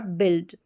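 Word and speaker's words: build: Vowel team है आई एल डी। इसको आइल्ड या इल्ड करके पढ़ेंगे। आइल्ड या इल्ड करके। चलिए यहां पर देखिए वाइल्ड, चाइल्ड, माइल्ड और बिल्ड। क्या है? बिल्ड। यह रेयर जो है इसका उच्चारण बहुत कम बाकी आइल्ड करके आप याद रख सकते हैं। एक्सेप्शन में इसको याद करें इल्ड को।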